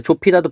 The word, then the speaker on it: 좁히다: 그다음에 조피다도 볼까요? 조피달은 아음절의 비읍과 디음절의 히읗이 만나서 조피다 이렇게 정리해 볼 수가 있겠습니다.